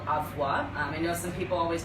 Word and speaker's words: Avua: right now is called avoir I know some people always wonder how you pronounce it it's avoir um and they have